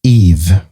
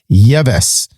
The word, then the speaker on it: Yves: to forget this guy ever. His name is Eve. That's right. But it's spelled Yves. Hello. I would have pronounced it Yves.